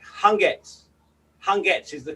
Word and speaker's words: Hangetsu: t s u so a lot of people say han getsu but that that u is silent so it's like hungers hunger is the correct